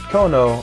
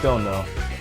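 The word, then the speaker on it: 殿: Is Tono, pronounced Dono, when attached to a name, roughly means Lord or Master.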